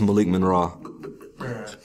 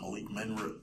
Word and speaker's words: Malik Monroe: This is Malik Monroe. That's how you pronounce it. I thought it was Malik Menrah.